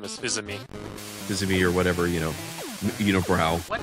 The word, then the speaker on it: Fils-Aimé: Yeah, well, that's how you say his name is Fils-Aimé.